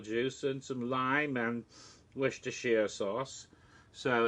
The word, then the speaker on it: Worcestershire: Yes, Worcestershire sauce. I always like to throw a couple extra syllables in there because I'm having silly.